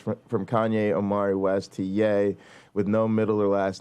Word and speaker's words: Ye: I'll I'll say to ye um pronounced yay by some uh genius